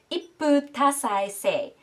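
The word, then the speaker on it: 一夫多妻制: Okay, the second word, I definitely had to look up the pronunciation before recording this video. It is ippu tasai sei.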